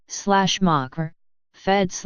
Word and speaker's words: macrophages: macrophages pronunciation / mocker fed / Greek big eaters from Greek mu Alpha Kappa Rho macros equals large Phi Alpha Gamma epsilon nu phage ein equals to eat are a type of